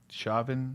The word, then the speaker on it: Chauvin: Chauvin.